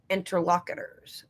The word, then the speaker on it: interlocutor: Two or more people speaking to one another are each other's interlocutors.